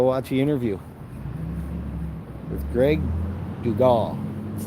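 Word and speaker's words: Dugat: Like I said, go watch the interview with Greg Dugal. It's spelled D-U-G-A-T, but it's Dugal.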